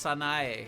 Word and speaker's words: Sanae: Streamer, it's Sanae.